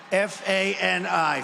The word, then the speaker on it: Fani: He worked with Fani, even though it's spelled Fanny, F-A-N-I, Fani.